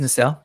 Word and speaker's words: Nacelle: Is that how it's It is pronounced? Nacelle, yep.